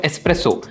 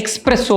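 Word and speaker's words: espresso: எஸ்ப்ரெஸோ, I prefer an எஸ்ப்ரெஸோ, I want a class of எஸ்ப்ரெஸோ. இதை நிறைய பேர் எப்படி தப்பாக சொல்லுவாங்கன்னு பார்த்தீங்கன்னா எக்ஸ்ப்ரெஸோ அப்படிம்பாங்க. எக்ஸ்ப்ரெஸோ கிடையாது, இட்ஸ் எஸ்ப்ரெஸோ.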